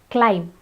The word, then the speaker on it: climb: we have basically basically the next word is climb let's climb not climb it's climb here the B is signed in the same